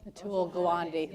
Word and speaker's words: Atul Gawande: is that how you say his name Atul Atul Gawande there you go joy Wendy the book and